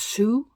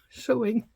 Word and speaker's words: sewing: I always thought it was sue. Sue. I did said said always sue. But you pronounce it as so. So, sewing.